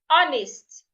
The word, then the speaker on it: honest: learning working husband Hospital remember there sometimes you have letter H in the word but the H is silent as an hour honest honor School football failure